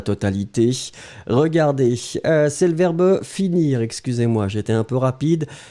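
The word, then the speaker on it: finis: bien sopia x attention fini he F i n i s n'oubliez pas le S Renato Silva aussi n'oubliez pas le S on ne prononce pas le S mais il est là allez on continue avec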